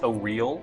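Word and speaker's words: Auril: frost god goddess or oral or technically pronounced oh real or real um is that a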